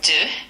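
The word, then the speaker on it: deux: One uh two du d e u x three t r o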